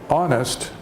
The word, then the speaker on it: honest: But when we say honest, we're saying on, and the H is silent. It's a silent H.